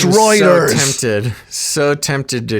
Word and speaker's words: Reuters: and said, "Tell Basil it's not Ruters, it's Reuters."